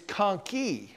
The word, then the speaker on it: conchae: And if you put an E on it for plural, it's conchae. I don't know why it changes so much.